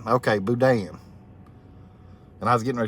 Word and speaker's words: boudin: Dry Creek's trying to help me out on how to pronounce that. Boudin. Okay, Boudin.